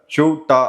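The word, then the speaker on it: Ceuta: அதாவது மொராக்கோவுடைய வட மேற்குல இருக்கக்கூடிய ஒரு சின்ன ஒரு இடம் தான் இந்த சவுட்டா அப்படின்னு சொல்லக்கூடிய இந்த இடம். இங்கிலீஷ்ல செவுட்டா அப்படின்னு சொல்லுவாங்க, ஸ்பானிஷ்ல ஷூட்டா அப்படின்னு ப்ரொனவுன்ஸ் பண்ணக்கூடிய ஒரு இடம்.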